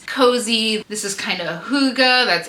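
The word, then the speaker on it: hygge: dress this is cozy this is kind of Huga that's h y g g e in case you don't know how to pronounce that word it's pronounced Huga which is I think just basically Norwegian or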